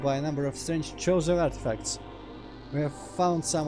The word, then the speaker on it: Chozo: As we have done for millennia, we Chozo, actually I keep wanting to read that as Kozo, but I guess Chozo is the canon pronunciation, work constantly on our statuary.